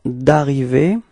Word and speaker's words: d'arriver: Okay, so the preposition de has been changed, okay, but as usual, that's the reason. I mean, the reason is because the verb who is coming after is arriver, and arriver is starting with the sound of a vowel. So in this case, of course, will have to disappear, and that's the reason why we get this d'arriver.